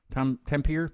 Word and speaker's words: Tampere: Tampere?